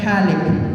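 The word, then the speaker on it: حالك: 7 alaq, ini dibaca halik.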